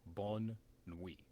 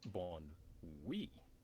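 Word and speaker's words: bonne nuit: So you would think good night is bon nuit, No. but it's bon oui, because they squish the two together.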